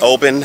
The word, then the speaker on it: Oban: And it's Oban. I think I've been saying it a little wrong. We have the name, and it's just a great meal. Guys, if you're ever in Oban, stop by the Olive Garden.